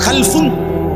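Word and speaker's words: خَلَف: খালফুন আরেকটা হল খালাফ একই শব্দ শুধু উচ্চারণের মধ্যে একটু ভিন্নতা মাঝখানে একটা লাম আছে এ লামটার মধ্যে যদি সাকিন হয় তাইলে হল খালফুন আর আর যদি লামের মধ্যে জবর হয় তাহলে হল খালাফুন আরবি শব্দ খালফুন লামের মধ্যে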